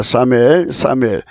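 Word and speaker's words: שָׁמַר: 시아말, 이거는 발음으로는 사멜입니다. 사멜.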